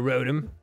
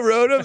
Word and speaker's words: Rotom: What was that for, Rotom? Go put that little trickster back in your bag. Dang, dude, I unfollow me. Pronounce it like Roto.